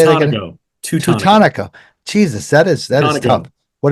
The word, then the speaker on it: Teutonico: Teutonico.